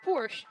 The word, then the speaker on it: Porsche: And yes, it's pronounced Porsche, not Porsche.